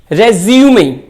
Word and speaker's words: resume: दूसरा एग्जाम्पल देखें, RESUME, रेज्यूमे। अगर ये नाउन है तो इसका करेक्ट प्रोनाउंसिएशन होगा रेज्यूमे, मींस बायोडेटा।